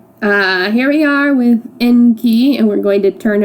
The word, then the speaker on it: Enki: Um, anyways, Enki, his name is I think pronounced Enki, not Inky, in the way that Lurian's son was uh the way I pronounced his name.